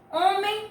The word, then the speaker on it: homem: Homem e harpa. Nós pronunciamos a letra H quando nós falamos homem e harpa? Não é mesmo? Porque o H no início de palavra não tem som.